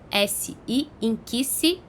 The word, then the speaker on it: Nkisi: E aí tem várias maneiras de se escrever, mas uma das mais comuns é N-K-I-S-I. N-K-I-S-I, Inkisi.